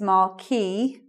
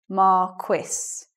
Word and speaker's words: marquess: either way but the the French pronunciation is Markey whereas let's say according to the dictionary the standard pronunciation of that in English is Marquess so that's the probably